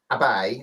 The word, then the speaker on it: Abe: Number 5, Japan's Prime Minister Shinzo Abe, pronounced Abe actually.